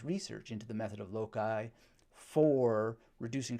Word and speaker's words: loci: And it is essentially taking, or loci is how it's sometimes pronounced by people. I think correctly it's pronounced loci, but sometimes it just comes out spontaneously, low-key.